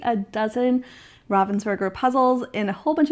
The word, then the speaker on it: Ravensburger: going off of the pronunciation that they use over on the North American Instagram. They say it a few different times where it is Ravensburger. I also met them when I was at Nationals. They also pronounced it Ravensburger.